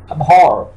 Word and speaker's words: abhor: is my future, priority, abhor यहां पर हम आर को थोड़ा साइलेंट रखेंगे, वाजे तौर पर इसको नहीं बोलेंगे, abhor सख्त नफरत करना, he